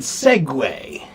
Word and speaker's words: segue: How do you pronounce the word segue?